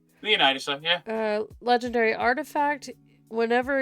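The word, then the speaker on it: Leonidas: It's not Lynus. No. Okay. Leonitis.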